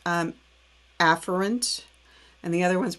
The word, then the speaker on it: afferent: new word for you afferent division it's actually pronounced um afferent and the other one's pronounced efferent but i'm